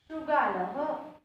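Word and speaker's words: शृगालः: Shashakaha, Shrugalaha, Vanaraha, Sinhaha. It pronounced according to the last vowel, right?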